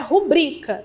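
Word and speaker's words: rubrica: rubrika eu preciso ou seja se ela se fosse uma proparoxítona eu precisaria de um acento no u que a gente não identifica aí já que todas as proparoxítonas são acentuadas né então a pronúncia adequada dessa palavra é rubrika beleza e não era ir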